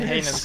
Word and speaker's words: heinous: Hey, I learned how to pronounce that now. How dare you accuse me of such a heinous crime.